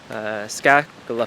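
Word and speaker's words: Skageflå: And this is where we are going to start the hike to SKAGEFLA farm.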